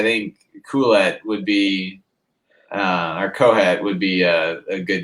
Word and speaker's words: Qoheleth: I think it's actually pronounced Kohet or Kohet. It's not Q. It's not Q. It's Kohet. Is if I remember the pronunciation right.